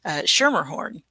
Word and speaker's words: Schermerhorn: Calvin Schermerhorn. Did I pronounce that correctly?